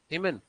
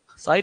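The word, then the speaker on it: Siemens: एस सीमन, सीमन ऐसे ही। सीमन, सीमन company का नाम नहीं, सीमन पर मीटर भी बोलते हैं ना। साइन नहीं है, सीमेन है।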